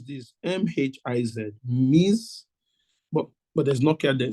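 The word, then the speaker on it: Mhiz: How do I pronounce this? M-H-I-Z. Miz, but there's no care there, so good.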